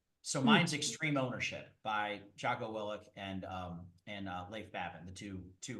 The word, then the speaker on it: Jocko Willink: So mine's Extreme Ownership by Jocko Willink and Leif Babin, the two retired Navy SEALs. I pronounced his name wrong, but anyway. No, you did it. Jocko Willink and Leif Babin.